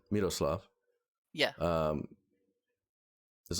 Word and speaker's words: Miroslav: Miroslav. Miroslav.